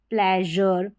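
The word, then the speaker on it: pleasure: तो यहाँ पर सभी स्पेलिंग्स में SURE है और सभी में जर करके प्रोनाउंस किया है। जैसे देखिए मेजर, फिर है प्लेजर, ये है ट्रेजर, और क्लोजर, क्लोजर जर करके साउंड आ रहा है किसका?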